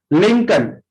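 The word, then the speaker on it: Lincoln: Norfolk, would, yoke, Chowk, लिंकन, इसमें L silent होता है, लिंकन।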